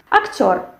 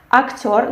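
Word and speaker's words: актёр: The same thing. We have the stress which falls on the last syllable, and we have this firm sound r. Yes, actor, not actor, and not r. We have r.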